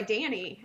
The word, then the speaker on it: Dani: Well, it's like, I go by Danny, and people spell it Danny, and I'm like, no, that's the boy version.